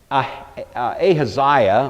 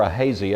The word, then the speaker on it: Ahaziah: And what happens is that his son, Ahaziah, or Ahaziah, it may be pronounced either way, takes the throne.